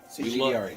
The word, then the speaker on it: CG D'Arie: Hey, so today we love this winery, CGDRE, and I'll spell it for you. Letter C, letter G, the letter D, ARIE. CGDRE.